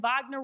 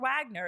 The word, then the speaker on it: Wagner: have known it's like it's like Vagner Wagner it's a v it's not a w it's broke perfectly too